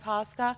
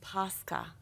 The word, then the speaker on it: Pascha: And hold on, that sounded like pasta, and that's not what it is. Easter bread is? Pascha. Pascha. It's spelled P-A-S-K-A, and it is delicious.